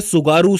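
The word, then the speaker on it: Tsugaru: इसके बाद आता है सुगारू स्ट्रेट। इसके अंदर टी साइलेंट है। याद रखना है आपको।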